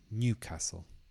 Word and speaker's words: Newcastle: So the stress is on the first part, Newcastle.